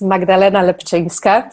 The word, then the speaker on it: Magdalena Lepczynska: Chris for the introduction so my name is magdalena lapchang scott so you were very close congratulations on pronunciation and I'm polish I live and work